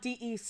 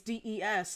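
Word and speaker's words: Dess: i 99 sure that des is for december holiday because some people are like but it's not dec it's des and i'm like yeah i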